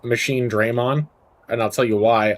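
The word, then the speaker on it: Machinedramon: Do you pronounce it Machine Drammon or Machine Draymond? And I pronounce it machine Draymond.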